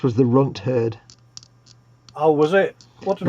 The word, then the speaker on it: Runt Herd: The one you couldn't pronounce was the Runt Herd. Oh, was it? What did I call it? You were like Runthard or something.